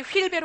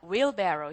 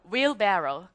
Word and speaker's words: wheelbarrow: 제발 어디 가서 촌스럽게 휠베로 하지 마세요. 자, 따라하십니다. wheelbarrow. 시작. wheelbarrow.